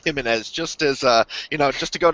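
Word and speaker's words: Jiménez: means, but I think when there's a J, it's kind of a soft J, like jogging, you know what I'm saying? So I don't think it's Jimenez, I think it's pronounced Jimenez, just as, just to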